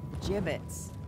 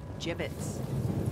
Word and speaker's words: gibbets: soldiers it down Hey look Avery had some gibbets left over jibbitz what it's pronounced jibbitz are you sure yeah well no one likes